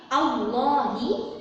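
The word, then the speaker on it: اللهِ: Jadi bukan Allah tapi Allahi ya.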